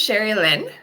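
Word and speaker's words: Sherlynn: mind going perfect hi my name is Sher Lynn and that's how you pronounce it um I live in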